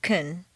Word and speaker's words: can: between can and can't reduce the positive can to Kun and stress the verb make the negative can't